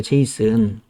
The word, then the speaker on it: JSON: 잠깐만 한번 좀 살펴볼게요 제이슨 이게 이제 실제 웹에서 굉장히 많이 쓰이는데 그냥 제이슨이라고 이렇게 찾아보시면 son이니까 J 손이잖아요 그죠 근데 읽을 때는 그냥 제이슨이라고 읽어요 그래서 여기 이제 보시면 자